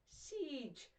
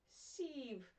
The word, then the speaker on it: siege: other at home as siege that's how you pronounce it siege not sieve that's a different thing